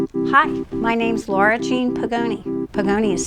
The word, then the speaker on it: Podgajny: Hi, my name's Laura Jean Podgajny. Podgajny is spelled P-O-D-G-A-J-N-Y.